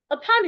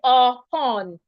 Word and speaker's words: upon: at the word upon upon is a preposition so because of that I am stressing the second syllable con while the first syllable which is the U there it should be reduced into a sha so that is why I should not say oron I should say upon upon upon now to